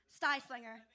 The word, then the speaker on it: Styslinger: a size slinger sorry it rhymes with pie slinger styslinger we're going to take